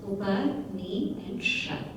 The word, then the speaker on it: Upanishad: And it comes in 3 syllables, Upa, Ni, and Shad.